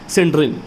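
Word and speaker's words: Senderens: तो सैबिटियर सेंड्रेन, ठीक है, सेंड्रन बोलिएगा, SANDERSON।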